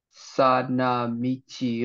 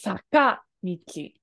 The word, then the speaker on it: 坂道: Sana michi o nobotte iku. Hi. This is actually pronounced as saka michi. That ka in a second. Saka michi.